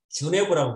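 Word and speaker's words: Genève: 요즘은 제네바를 또 제네바라고 안 하고 주네브라고 부르는데 이 사람이 바로 칼뱅을 제네바에 붙들어 놓은 사람이에요.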